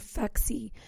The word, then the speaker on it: Phexi: And the name or the reason behind Phexi, so pH stands for the pH balance of the vagina, XX for woman chromosome, and then Phexi rhymes with sexy.